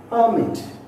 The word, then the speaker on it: permit: See, look here where the stress has been given. It is only on first syllable. And that where it has to be stressed, I have highlighted in the capital letters. Just see. Export, China, table, record, permit. See, all this word I stressed on the first syllable because they are two syllable word and more than that they are nouns.